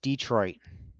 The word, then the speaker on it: Detroit: So it's Detroit. Okay. Angela? Detroit, yeah. Detroit. All right. So that's how you pronounce it.